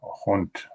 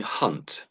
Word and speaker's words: haunt: Haunt. I don't know. Yeah, it's not too. So, it sounds like you're saying hunt. Hunt. But this is haunt.